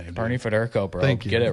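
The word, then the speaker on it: Federko: But yeah, it's uh number 24 Bernie Fur Fed forko. I can't say his name. Bernie Federco, bro.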